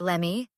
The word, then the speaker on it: let me: Let me sounds like lemmy.